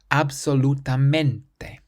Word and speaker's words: absolutamente: Or absolutamente means absolutely, and the syllable before last is the men. Absolutamente. So we stress that part.